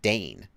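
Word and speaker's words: Degn: He gave a pronunciation guide, but I guessed correctly how to pronounce D-E-G-N. Dane.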